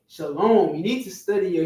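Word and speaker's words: שלום: didn't exist then Shalom it weren't saying shalawam it was saying Shalom simple all right go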